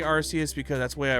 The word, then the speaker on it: Arceus: But yeah, the platinum, the Giratina scene was sick, which was made even sicker in Arceus. I say Arceus because that's the way I originally pronounced it back in the day, and it's the way Japan pronounces it.